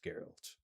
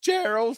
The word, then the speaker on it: Geralt: Geralt. Oh, that's pronounced Gerald. Thank you. Oh, a soft G.